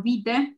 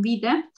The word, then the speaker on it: vitae: podemos poner, por ejemplo, si están enviando un currículum que se escribe vitae, pero se dice en italiano vite, currículum vite.